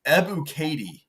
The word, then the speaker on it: Ebiketie: By the way, it's Ebiketie. Okay, hey, we're close. Sure. I don't know. Thanks, Pro Football Reference. Trying to pronounce people's names.